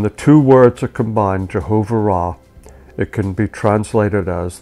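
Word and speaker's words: Jehovah Raah: Jehovah Ra. And it's spelled Jehovah with Ra, R-A-A-H.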